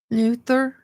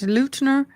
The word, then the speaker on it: Luther: The perpetrators, Anissa, I guess is how you say it, Weiner and Morgan Geyser, pinned down Peyton Isabel Luther. I want to call it Lutner. It's Lutner, also known as Bella, as